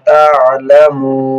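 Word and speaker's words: تعلمون: তিন আলিফ টান হবে, মধ্যে আরজির কায়দা। তা'লামুন। কাল্লা সাওফা তা'লামুন। তা'লামুন। আইন হলকের মধ্যখান থেকে উচ্চারণ হবে।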